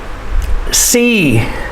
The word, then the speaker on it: sea: river river sea c remember the rule two vowels together the second vowel is silent and the first vowel makes the long sound c so s e a makes the long e sound c hill heel ma